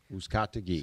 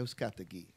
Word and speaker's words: Uzcategui: My name is Uzcategui. Uzcategui. So if you have a problem pronouncing the last name, it sounds like, who's got the key?